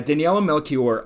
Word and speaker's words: Daniela Melchior: Yeah, Daniela Melchior.